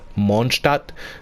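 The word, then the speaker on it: Mondstadt: names and whatnot so monstat apparently is pronounced monstart if you were to say like in german but you know in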